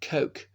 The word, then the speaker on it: Coke: So there was the Chief Justice of the King's Bench, Lord Coke, or Lord Cook, as some people pronounce it, in the early 17th century.